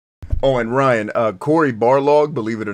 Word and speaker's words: Barlog: and ryan uh corey barlog believe it or not his name is spelled like uh almost like the dude in a street fighter ball rog except it's bar log b-a-r-l-o-g you made it